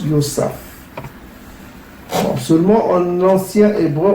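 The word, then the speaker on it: יוסף: Ça se prononce Yosaf. Yosaf.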